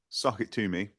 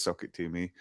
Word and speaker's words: SOCKITTOME: Uh, so it's pronounced socket tumi which is like crammed all the words together to make one word which people can sometimes mispronounce but it's it is socket to me and it's it it